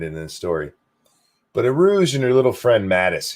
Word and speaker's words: Urooj: It's Aruj, though, is how you pronounce her first name. Urooj.